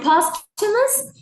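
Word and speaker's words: posthumous: No, it's it's postumous. Okay, guys. So, it's postumous and somethingostumous is an adjective and it means something that happens after death.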